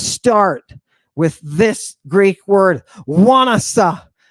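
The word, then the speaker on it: ϝάνασσα: looks like an F it does but it's pronounced like a w w w w give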